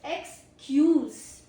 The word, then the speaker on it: excuse: There are two pronunciation. First is XQ's. XQ's uh ends in Ss XQ's.